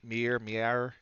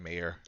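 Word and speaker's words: Meier: It's like Mier. It's Yeah, I know it's an M. M-E-I-E-R. So Shout outs to white it's people. probably like it's probably like Mayor.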